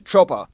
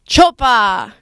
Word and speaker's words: Çopa: bizard how do you say your last name choa choa um a student in the SFS majoring in